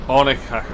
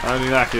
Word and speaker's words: Oninaki: Onikak, that's the fucking, I can't pronounce it, but... Oninaki. Oninaki, that's it.